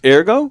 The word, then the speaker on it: ergo: Ergo. E R G O. E R G O. It's pronounced airgo.